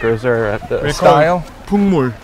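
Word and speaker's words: 풍물: Pungmul. Pungmulnori. Pungmulnori. How do you spell that?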